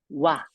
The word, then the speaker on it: は: is a ha however when it's used as a particle her is actually pronounced wa example sentences watashiwa isn't